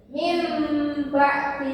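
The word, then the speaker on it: مِنْ بَعْدِ: Apa huruf bunyi nunnya berubah menjadi Mim. jadi Mim ba'di.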